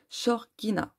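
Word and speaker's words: Xorguina: Et celui-ci, c'est aussi un oracle que j'ai créé qui s'appelle l'oracle Shorgina. Donc ça s'écrit X-O-R-G-U-I-N-A.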